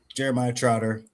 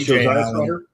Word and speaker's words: Isaiah Trotter: First off, it's Isaiah Trotter. Get it? Isaiah? My bad. Sorry. Yep, yep, you're right. You're right. If you're going to say his name, say it correctly.